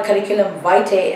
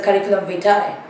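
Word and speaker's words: curriculum vitae: It's not a curriculum vite as many people mispronounce. It's a curriculum vai.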